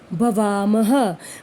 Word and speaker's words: भवामः: ना 2 बिंदियाँ, नहीं, ये विसर्ग होते हैं और इनका उच्चारण हलंत लगे हुए ह, यानी कि हम कह सकते हैं आधे ह के रूप में होता है, ह, भवामः।